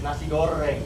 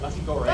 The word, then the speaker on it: nasi goreng: Yeah, we could barely roll your R's anymore. Like literally, it's nasi goreng, not nasi goreng.